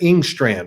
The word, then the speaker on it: Engstrand: They're going to have, I never get it's Tanner Engstrand, right?